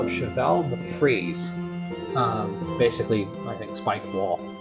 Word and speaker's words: cheval de frise: So, and I was corrected on the spelling of the pronunciation of this by my little brother. They call it Cheval de Frise.